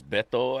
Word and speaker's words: Veto: This guy's name is Bethto actually, but it's spelled Veto.